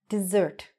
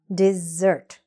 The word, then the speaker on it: dessert: This one, also mispronounced all over the world, dessert. Okay, dessert. Stress is on the second syllable.